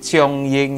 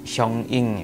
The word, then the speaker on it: Xiong Ying: Kalau di video yang sebelumnya kalian udah ngeliatin review saya tentang Rit Xiong Ying yang alto. Bacanya tuh Xiong Ying ya harusnya ya. Kayaknya ya. Xiong Ying.